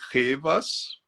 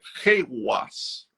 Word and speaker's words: Ehwaz: Eu falei Revas para facilitar quem for escrever aí, mas a pronúncia é Rewas.